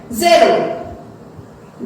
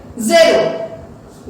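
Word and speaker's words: zéro: अब हमें उन्हें प्रोनाउंस क्या करना है, ज़ेरो। दोबारा रिपीट करें, ज़ेरो।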